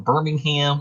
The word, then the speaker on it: Birmingham: Our next band is a little known band from Birmingham, which is the birthplace of a lot of good bands. Birmingham, UK. You gotta say it like geezer, Birmingham.